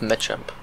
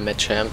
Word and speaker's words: Machamp: Mir ist aufgefallen, dass CH im Englischen meistens, oder meistens als, ja, eigentlich schon meistens als K ausgesprochen wird, aber es gibt halt immer diese Ausnahmefälle. Wie zum Beispiel Machamp. Ich bin ziemlich sicher, dass es Machamp heißt.